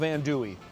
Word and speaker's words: andouille: We are gonna learn from Jared, the owner, and Brian, the butcher, how to make traditional andouille. Andouille. I've been pronouncing it wrong for years.